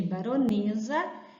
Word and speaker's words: baronesa: sílabas quatro sílabas aqui nós temos uma anotação do e com o acento circunflexo mostrando que a pronúncia de si e de baronesa é um som fechado então a pronúncia fechado